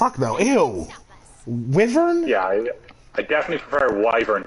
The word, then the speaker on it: wyvern: wrong no one pronounced you're the only person I've ever heard say Weaver it's always wyvern my Vern yeah or maybe